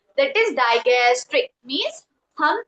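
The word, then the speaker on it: digastric: That is डाइगस्ट्रिक means हम spelling बताती हूं। डी आई जी एस टी आर आई सी डायगस्ट्रिक। इसको हम डाइजेस्ट्रिक भी बोलते हैं, डाइजेस्ट्रिक भी बोलते हैं।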